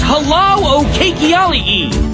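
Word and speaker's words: hālau o keiki: Can you say halau o keiki? No, that's not quite right. Try it again. I'm sorry, your pronunciation's way off. It's pronounced halau o keiki.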